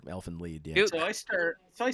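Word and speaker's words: Elfen Lied: off and Alin lead I've been corrected many times that it's elf I'm not sure what it is it's lead that's how they say it in German it's a German uh word Elfin lead so I start so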